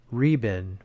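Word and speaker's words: 日本: Here is your name, they pronounce, Riben, which means sunrise land.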